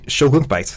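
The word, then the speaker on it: Shelgon's Bite: Shogun's Bite, exactly how it's spelled.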